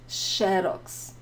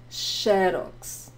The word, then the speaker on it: Xerox: here in Brazil is Xerox. So look at the first X, right? Not the last one, which is different. Xerox.